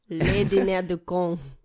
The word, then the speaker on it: Le Dîner des Cons: You don't pronounce the S. Le Dîner des Cons.